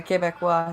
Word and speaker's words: Québécois: So the Bloc Québécois, is that how to say it? Yeah, Québécois, yeah.